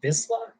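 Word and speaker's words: Vizsla: Is pronounced Visla.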